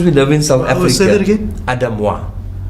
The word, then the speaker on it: Aidez Moi: name confused it's okay it's actually French it's pronounced Adam won but because we live in South Africa Adam won it's really interesting yeah